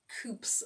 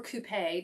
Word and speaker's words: coupe: I like a flute for these bubbly drinks, but we use our coops or coupe, depending on how you pronounce it, for other cocktails.